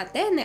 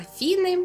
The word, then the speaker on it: Атени: Не анатема, анафема, не атени, а афіни, не патос, а пафос, не етер, а ефір. Не тадей, а фадей. І це при тім, що,